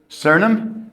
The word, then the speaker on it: Suriname: Suriname? Yes. Spell that. Suriname. Yeah, think about it, didn't you? Yeah, because usually it's just, I usually say SURI and then say name.